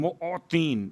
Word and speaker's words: معطین: بہترین۔ یا خیر المعطین، معطین، میم عین توئیں یہ نون، معطین، موتی۔ اب چونکہ اگر